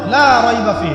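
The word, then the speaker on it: لا ريب فيه: লাকে টানতে হবে, লা রাইবা ফি, লাকে টানতে হবে।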